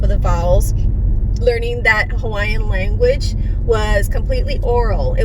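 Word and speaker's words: Hawaiʻi: or in between vowels, which is why you hear a lot of people say Hawaii as Hawaii. And it's actually mispronounced as well because the okina is in between 2 I's, not the A and the I.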